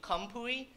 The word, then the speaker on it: Khamphouy: introduced me was campoey but i changed that in eighth grade because it's pronounced actually kampui but in eighth grade